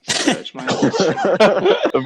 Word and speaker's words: Serge Monast: Serge Monast. Rather unfortunate we say it like that, but it's Serge, S-E-R-G-E, Monast.